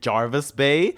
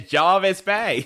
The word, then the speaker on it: Jervis Bay: AI in the MCU this is Jervis Bay with an E maybe that's why the Australians were pronouncing it as Jarvis B it just sounds like Jarvis I get it I